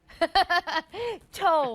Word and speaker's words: TOA: is tau waters and i'm gonna find out if we say t-o-a or pronounce it as tau but first let's meet